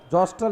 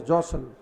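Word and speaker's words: jostle: प्रतिद्वंदी राइवल रखा करना जोसल जोस्टल नहीं जोसल टी साइलेंट करेंगे विद समबडी फॉर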